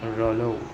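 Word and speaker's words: rouleaux: Pronunciation of Rayleigh is Rayleigh.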